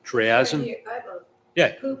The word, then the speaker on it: triazine: n i um I think you pronounce it triazen Here I have a poop sheet on it.